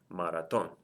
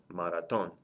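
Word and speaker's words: maratón: the word is pronounced maraton maraton so since it's pronounced maraton the stress is over the very last syllable and it end in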